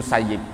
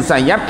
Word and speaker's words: Musayyib: Beliau bacanya Sa'id bin Musayyib, ya, Sa'id bin Musayyib. Kebetulan Kiai Aziz itu pamannya istri saya. Nah, jadi saya manggilnya paman. Bahwa adapun Sa'id bin Musayyab itu ya beki menangis.